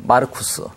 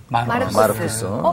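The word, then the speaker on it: Marcus: 이름이다 그고이 마가라 이름은 로마식 라틴어 이름이죠 어 그러니까 그대로 이제 발음 보면 마르쿠스 마르쿠스 아마 그 마르크스를 영어로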